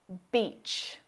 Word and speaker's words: beach: in this word ee if you mispronounce this long vowel sound and use the short e sound you'll say that's a road word beach each here's another example sheet